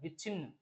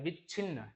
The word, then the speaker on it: विच्छिन्न: ठीक है, तो देखो विच्छिन्न जो हम लोग पढ़ते हैं उसमें च का भी प्रोनाउंसिएशन आता है, केवल छ नहीं आता। विच्छिन्न च भी आता है, विच्छिन्न।